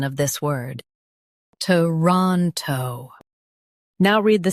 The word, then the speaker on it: Toronto: Toronto. Stress ron and keep t and toe light.